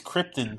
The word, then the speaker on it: Krypton: um first of all he can't pronounce Krypton correctly second of all it's Krypton thank you very much second of all